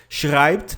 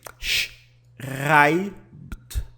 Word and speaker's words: schreibt: Schreibt, você pronuncia assim. Schreibt, schreibt, tá? As letras SCH têm som de CH, as letrinhas E e têm som de AI.